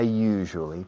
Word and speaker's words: usually: I usually talk to Maria during the programs. La palabra usually se usa muchísimo. Usually. La pronunciación es un poco complicada. You. Es como en francés. Je suis. Je. Usually.